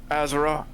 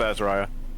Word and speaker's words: Azariah: I guess it could also be Azariah. You tell me. Azara. Is the I silent? No, I'm sorry. No, let's go with Azariah.